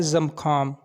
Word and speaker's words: زمخام: وبرکاتہ۔ Welcome to baby names diary. نام ہے زمخام۔ زمخام نام کے انگلش میں سپیلنگ ہے ZAMKHAM، زمخام۔ زمخام نام کی جنس